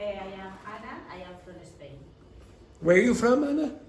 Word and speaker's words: Spain: Say Bain. Now say Spain. Spain. That's what you usually say. You don't usually say it like that. You don't really say Spain. Okay? If you listen to an English speaker, you'll generally hear Spain. Spain. It sounds more like that. It's an unaspirated P.